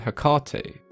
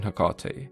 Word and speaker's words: Hecate: The most common pronunciations that I came across were Hecate, Hecate, Hecate, and Hecate, which all sound pretty reasonable to me. But if we take a look at the way it's pronounced in Greek, it's Ergati, which could easily be translated to both Hecate and Hecate, so I guess it comes down to personal preference and which part of the world you're from.